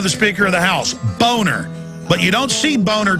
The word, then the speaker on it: Boehner: Yeah, well, no, the name is German. It's a nice name. It's pronounced Boner, and his whole life he even had an ad campaign saying it's Boehner, not Boner.